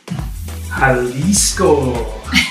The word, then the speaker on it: Jalisco: jalisco is that how you say it yeah that's